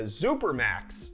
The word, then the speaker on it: Supermax: coming out with the supermax i think that's supposed to be pronounced super max but the x makes me go z anyways 299 dollars and